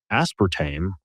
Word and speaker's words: aspartame: showing a link between aspartame or aspartam depending on your pronunciation preference and Diet Coke so